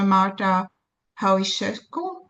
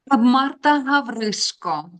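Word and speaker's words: Marta Havryshko: And now we are moving to our third uh speaker, Professor Marta Haw. I think that I mispronounced your name. Did I? She's an historian. Can you correct me, please? Marta Marta Havrisco.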